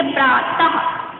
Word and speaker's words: प्रातः: इसका उच्चारण जो होता है वो भी थोड़ा अलग होता है। यहाँ पे यानी कि हम लोग लिखे थे प्रा, और जब हम बिंदी लगा देंगे तो उसका उच्चारण खाके के समान होगा, और हम लिखेंगे प्रातः। यानी कि जब हम बोलते हैं तो बोलेंगे क्या, प्रातः, जैसे कि आहा हो जाएगा।